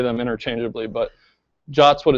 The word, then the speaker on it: JWT: For reasons that are still not entirely clear to me, the suggested pronunciation of JSON web token isn't JWT, but it's JOT. It's even written in the spec.